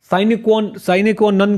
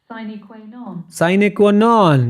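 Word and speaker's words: sine qua non: साइने क्वा नन क्या होता है बेटा, ये क्या होता है?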